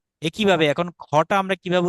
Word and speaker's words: খ: তাই এটা উচ্চারণ হবে মহাপ্রাণের মতো খা।